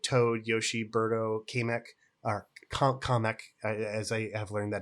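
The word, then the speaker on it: Kamek: And that's like Toad, Yoshi, Berto, KK or Kameck as I have learned that his name is properly pronounced by the movies.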